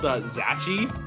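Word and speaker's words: Zaxi: It was called Zachi. Zachi? Which, yes, it's Z-A-X-I, and I know that's not how it's pronounced, but that's how I pronounced it.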